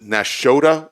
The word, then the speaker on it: Nashotah: You'll have to pronounce this for me. Is it Nashotah, Wisconsin?